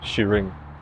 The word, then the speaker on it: Shiring: But for these purposes, the way that I've perceived it to be pronounced is Shiring.